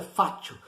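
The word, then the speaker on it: fascio: Escrito em português, se pronuncia fátio, fátio de Milão.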